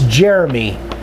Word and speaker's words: Jeremy: Jerome Bowman excuse me I always pronounce this wrong it's Jeremy it's spelled like Jerome but this is he pronounces it Jeremy so I apologize I